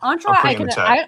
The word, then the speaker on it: Entra: You already have pronunciation. Entra is the correct pronunciation. Entra Entra I can accept.